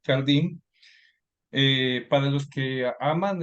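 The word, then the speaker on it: Carl Diem: del deporte que es cardim o carden lo se pronuncia más cardim eh Para los que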